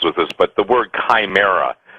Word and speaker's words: chimera: this, but the word chimera, some people pronounce it chimera, it's pronounced chimera, chimera.